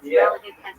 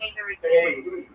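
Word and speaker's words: Kyiv: for the longest time, that's what we said, Kiev. Just like, Paris. If that's the name. But in Ukrainian, they have slightly different vowel combination. The sounds are soundedly, and it is pronounced K-E.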